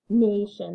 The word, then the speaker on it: nation: for you okay so we've got n and we've got a because this is an open syllable because this is a two syllable word may shun it's an open syllable the a is at the end of the syllable so it's gonna say it's gonna be long it's gonna say its name nation that one should be